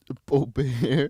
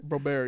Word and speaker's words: Boebert: Boebert. Boebert, yeah. He drops the T and he softens the T, so he says Why?